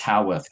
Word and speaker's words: Howarth: all of you yeah um I realize I pronounced your last name WR so it's it's howorth correct yeah Luke howth yeah Luke